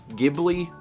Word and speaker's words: Ghibli: you you cannot win ghibli with a hard g is actually correct yeah the official japanese